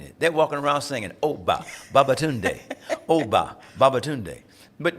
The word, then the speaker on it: Obba: there is no short it's Oba two syllables OB like Mary Tommy Bobby Sammy you can do it